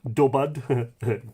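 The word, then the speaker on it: Dubhadh: And in the case of Dowth, Dowth is, I always say Dubad, D-U-B-A-D. I have to be very careful here. D-U-B-A-D. And Dua would be the anglicisation of it. Or sorry, Dua would be the modern Irish pronunciation of it, anglicised to Dowth, D-O-W-T-H.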